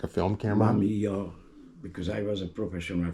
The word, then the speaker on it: Mamiya: Mamiya.